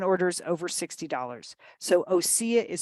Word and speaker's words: Osea: clean vegan skin care and Body Care from osea you're going to get 10 off your first